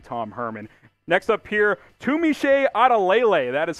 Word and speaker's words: Tunmise Adeleye: Next up here, Tunmise Adeleye. That is how you pronounce his name.